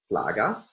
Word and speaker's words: flaga: And our Polish stress rule will be able to assign stress on the first pass using all of the information here. So we find a syllable, and there is one syllable after it before the end of the word, and the result is stress on the penultimate syllable.